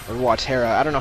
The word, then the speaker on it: Watera: Just because, yeah, finally we got Watera, or Watera, I don't know how you pronounce it. I always say Watera because it's water, it's not Watera, but H.C. Bailey says Watera, which is so weird.